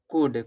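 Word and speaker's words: could: फिर यहां दिया है कुड कुड में L silent sorry L silent होता है।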